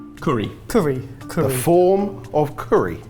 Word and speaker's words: Cury: With a single R. So would we pronounce that curry? Curry.